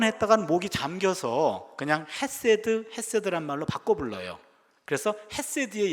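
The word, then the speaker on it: חסד: 이게 어떤 발음이냐면 가래 뱉기 직전이에요. 그래서 세드 이렇게 해야 되는데 이게 목젖을 긁어서 나오는 단어이기 때문에 일단은 앞에 분에게 실수를 할 수 있어서 안전장치를 하고요.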